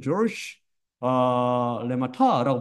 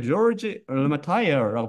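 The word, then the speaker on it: Georges Lemaître: 제가 사실 인터넷까지 뒤져봤는데 이건 프렌치래요, 프렌치. 벨지엄 프렌치인데, 예, 프랑스어. 이걸 뭐라고 하냐면, 조르시, 레마타라고 발음하더라고요. 하지만 영어식으로 그냥 조지 레마타이어라고 발음해도 된다고 그러더라고요.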